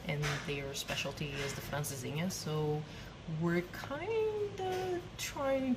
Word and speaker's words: Francesinha: Am I pronouncing it wrong? Francesinha?